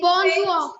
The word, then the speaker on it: bonsoir: In Bonsoir. French? Bonsoir. Bonsoir. S-O-I-R. Bonsoir. S-O-I-R. Bonsoir. So we Bonsoir. don't say bonsoir. We don't say bonsoir.